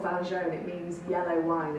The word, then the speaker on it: Vin Jaune: Vin Jaune. Vin Jaune.